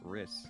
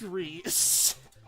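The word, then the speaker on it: Rhys: But then the dude in Path of Radiance, whose name actually is Reese, they're like, R-H-Y-S, Riss. Like, no, that's literally the original spelling of the name Reese, but yes, my favorite Fire Emblem character. Wrist. Wrist. Fucking hate that pronunciation of that specific word. Just like, wrist. No. Wrist. It's Reese.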